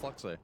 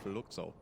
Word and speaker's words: Fluxo: We We've agreed on that pronunciation, by the way. It's not Fluxo, it's Fluxo.